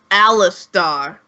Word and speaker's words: Alistar: Is that different than Alistair? Yes. It's Alistar.